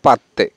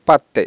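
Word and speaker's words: പത്ത്: আমরা মায়ালাম ভাষায় বলবো পাত্তে 10 মায়ালাম হবে পাত্তে ওকে এখানে কিন্তু ত উচ্চারণ হবে আমরা কিন্তু বেশিরভাগে পাদে উচ্চারণ দ উচ্চারণ করে থাকি কিন্তু দ টা উচ্চারণ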